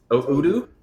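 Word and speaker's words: Udio: analysis was called oio I actually don't even know how to say it oudo o actually it's Udo you are right there oh okay it's Udo yeah are you familiar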